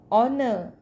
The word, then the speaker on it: honor: Further, when we are talking about an R, an honor, an honorable, here H is silent.